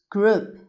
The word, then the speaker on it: group: 8번의 G는 기역 소리가 나고 그 소리가 나고 R 리을 소리, 그 다음 O, U가 붙어서 여기서는 우 소리 날 거예요. 얘도 우 소리라서 우 소리 나고 P는 P 붙여주면 group group이라는 group이라고 읽는데 무슨 뜻이냐면 무리, 집단,